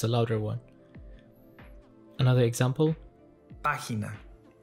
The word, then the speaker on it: página: Página. This word has three syllables. If it followed the rules, the stress syllable should have been on the next to the last.